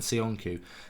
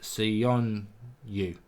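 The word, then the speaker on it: Söyüncü: Elliot says Turkey all of a sudden have amazing centre backs, Demiral and Sionku. Excited to see them at the Euros. Also, it's pronounced Sionyu.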